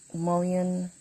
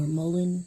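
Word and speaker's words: mullein: Rod uh hag candle mulon candle or Mullen depending on how you say it and it's still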